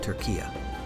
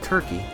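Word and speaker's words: Türkiye: If you're wondering why I'm calling it Turkey instead of Turkey, it's because in 2022, the country changed its name through the UN officially to Turkey.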